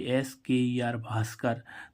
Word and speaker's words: भास्कर: उच्चारण भाव होता है जैसे बी एच ए आर ए T Bharat तो देखो यहां पर बी एच बी के बाद क्या आ रहा एच तो इसका मुख्य रूप से उच्चारण क्या हो रहा है भा ऐसे ही इसमें देखो